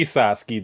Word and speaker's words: Sasuke: I mean, the way people say Sasuke, then you can say it has 6. The one letter is silent.